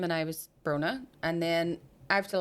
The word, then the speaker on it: Bronagh: And he was like, so, and I went, yeah, it's a silent G. You don't pronounce the G because it's a soft sound. The right, Bronagh.